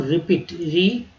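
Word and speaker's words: repeat: रटना, टू रिपीट, देखिए ई ए का उच्चारण यहाँ ई के रूप में किया गया, तो रिपीट।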